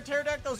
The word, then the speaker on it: pterodactyl: Why can't you hear a pterodactyl's urination? The P is silent.